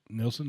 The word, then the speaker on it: Nilsen: joining us um and we're pronouncing the right Nelson right yes that's correct yeah kind of an unusual spelling but pretty normal pronunciation have you googled your